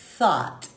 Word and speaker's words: thought: Só que eu falo, é um F, que você tem que botar a língua no meio dos dentes e soprar.